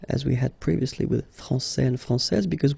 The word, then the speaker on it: France: we had previously with France and Fran because we don't pronounce the final s in France and it's exactly the